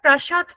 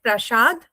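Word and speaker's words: Prasat: And this is the Prashad Phimai. We said Prashad, D, Do, and they pronounce it as a Prashad, To.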